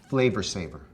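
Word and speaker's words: Flavr Savr: That's spelled F-L-A-V-R-S-A-V-R, Flavor Saver.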